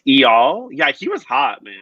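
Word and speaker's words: Eyal: with her boyfriend e-e-e-o how do you pronounce that e-y-a-l i think it's e-all yeah he was hot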